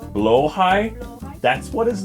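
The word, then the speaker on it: Blåhaj: Blowhai.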